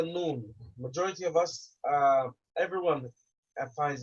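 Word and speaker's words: ن: And again, the tongue is placed on top of the palate of the mouth, on the top layer. And how do you know you're pronouncing it correctly? Look at the vibration. Where's the vibration? The image is showing you vibration, and it's coming from the nose.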